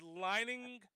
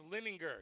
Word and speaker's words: Lininger: He said Lininger. So it's Lininger. Yeah, it's Lininger. Lininger. Lininger. Rhymes with finger.